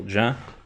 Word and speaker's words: Jean: It's the French Jean, not the English one. Okay, so Jean, well, I'll remember that.